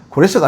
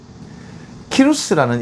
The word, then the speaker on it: 키루스: 고레스 하면요. 외국에 나가 고레스 하면 아무도 못 알아듣습니다. 왜냐하면 우리 할아버지들이 발음이 안 돼가 고레스라고 이 해석을 했는데요. 저도 세계 역사를 너무 좋아해서 공부를 해보면요. 고레스라는 말은 어디에도 안 나옵니다. 고레스가 아니고요. 키루스라는 이름으로 세계 역사책이나 세계 역사에 가면 전부 다 키루스입니다.